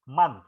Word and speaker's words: month: O kadang-kadang dibaca A, kadang-kadang dibaca O juga ya. Jadi tapi kalau man ini di MONTH ini dibaca month ya, dibaca A. Jadi pengucapannya ya seperti huruf A, last month ya.